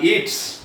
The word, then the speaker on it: Yeats: Butler Yeats, है ना, YEATS, ईट्स भी पढ़ता है, येट्स भी पढ़ता है, ईट्स एक्चुअली प्रोनाउंस होना चाहिए, ईट्स सूट ऊपर भी प्रोनाउंस ईट्स, हाँ येट्स भी चलेगा, हाँ जैसे मैं विलियम